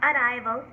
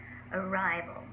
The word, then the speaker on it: arrival: in mumbai um not arrival or adival many people have trouble pronouncing the r consonant here which is understandable but